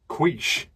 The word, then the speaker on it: quiche: No, like quiche with a k sound at the start, like in the name Keith. I can't say that. What, Keith? I struggle with TH sound, so it just comes out like Keith. Well, no, you don't need to say the because it's the word's quiche with a sh sound at the end. It's not Keith.